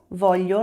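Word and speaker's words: voglio: Volho, lembra da pronúncia do Gli?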